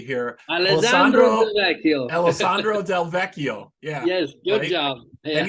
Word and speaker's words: Alessandro Del Vecchio: you have basis keyboardist uh I'll try to pronounce this correctly here Alessandro del Vecchio yeah yes good job and he's also producing